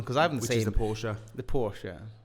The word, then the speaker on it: Porsche: That's pronounced Porsche. Did you hear that? Did that get picked up? Let's ask him again. Okay, Google. How do you pronounce Porsche? That's pronounced Porsche.